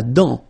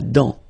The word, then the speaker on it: dent: La dent, final T not pronounced. La dent.